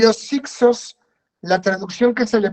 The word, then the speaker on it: hicsos: dialecto de los egipcios isco Es perdón es h i k s o s pero se escribe ixos y los hicsos la traducción que se